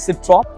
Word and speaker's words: Citroën: सिट्रॉन बोलते हैं कि सिट्रॉ बोलते हैं? Citroën. I think Because it's a French में N pronounce नहीं तो इट्स अ होता। सिट्रॉ।